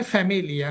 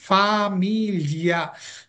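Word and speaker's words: famiglia: দোবে, দোবে লাতুয়া ফামিলিয়া, ননে ফ্যামিলিয়া, হ্যাঁ ফ্যামিলিয়া বলা যাবে না, কি হবে? ফামিলিয়া।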